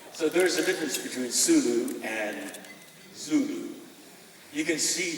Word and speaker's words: Sulu: question involves the character zulu and uh there's so much it's pronounced the sulu look at the map right near the philippines s-u-l-u zulu is africa the zoo tribe lean